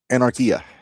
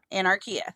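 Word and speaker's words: Anarquia: Spell it. A N A R Q U I A. Anarchia. Anarchia.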